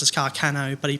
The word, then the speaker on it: Carcano: supposed to be pronounced is supposed to be pronounced as carcano but he pronounces his carcain now okay which is just like kill me sure